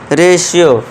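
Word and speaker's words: ratio: अब next example देखिए, टी के बाद आई ओ आ गया, तो इसे क्या पढ़ेंगे हम, रेशियो, शा का साउंड हम देंगे, पेशेंट रेशियो।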